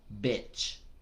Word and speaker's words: bitch: No dog, sino perra, el insulto, se pronuncia algo así como bitch, bitch.